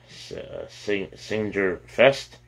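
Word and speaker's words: Saengerfest: Signature Fest is a singer festival, a public competition of singing groups, and that's spelled S-A-E-N-G-E-R, Singer Fest.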